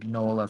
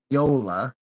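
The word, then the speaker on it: Mignola: Um, it's, you know, I thought his name was pronounced Mola forever because why else would it be anything else, but apparently it's pronounced Mola.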